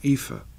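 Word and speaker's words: Aoife: a name in fact my daughter is called epha but it's AO i f it's not just EFA it's aoi so then I have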